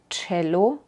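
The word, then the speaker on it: Cello: las dos y Francisca o en palabras como Chelo suena como como una t seguida por una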